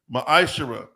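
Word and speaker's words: מעשר: of Malachi 3: 8-10 means 10th in the Hebrew it's pronounced Maisha 10% of every penny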